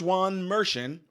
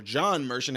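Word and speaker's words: Juan Merchan: York City Courthouse judge Juan meren or John merchan however you want to say it the Jay is silent or not just before 3 p.m.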